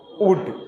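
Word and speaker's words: would: शुड क्या पढ़ेंगे शुड डब्लू ओ यू एल डी क्या हो जाएगा वुड यहां एल खामोश रहेगा सी ओ यू एल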